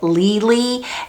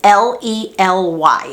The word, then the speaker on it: Lely: A lot of people mispronounce that and call it Lely. It's Lely, and it's the way you pronounce it is Lely.